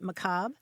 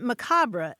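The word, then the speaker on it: macabre: Um so yeah, let let's uh talk about this word Macob, which is how you pronounce it, right? Macab and uh you you can also pronounce it macabra in English and it's a word that comes from French.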